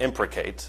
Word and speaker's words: imprecate: actually the correct answer those that impact imprecate is the pronunciation there okay yeah that's